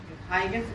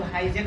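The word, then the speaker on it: Huygens: परंतु हाइगेंस नामक वैज्ञानिक ने कितना लोग हाइजेन भी बोलता है बच्चों, हाइगेंस या हाइजेन दोनों प्रोनाउंसिएशन होता है।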